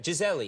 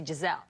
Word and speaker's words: Gisele: and then, you know, my name in Portuguese is spelled Gisele, but How is it's it pronounced Gisele. correctly then? Gisele. No, it says Gisele in Portuguese because we say I in the end of the L. Here you eat the I, you know, you only say Gisele.